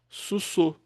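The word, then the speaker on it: סוסו: Sus mais ru, que é o cavalo dele. Sussô. É assim que se pronuncia, tá bom?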